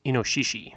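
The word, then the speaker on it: 猪: new Ki just like that the first one pronounced Cho here but in form is inoshishi it means bore it's not actually in my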